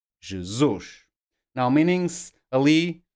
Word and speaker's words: Jesus: Any word with any of these endings will be stressed on the last syllable. Ali, feliz, Peru, Jesus. You see? Or can you hear? Last syllable, the stress.